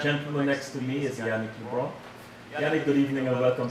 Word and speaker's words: Yannick LeBrun: Yannick, am I pronouncing Yannick LeBrun. LeBrun? Okay, good. I got it right. Yannick LeBrun.